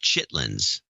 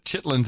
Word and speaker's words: chitterlings: CH i TT ER she says it spelled chitterlings and pronounced chitlins by Jove you're right but now I'm gonna say chitterlings instead of chitlins but don't do that to bright chitlins it is thanks for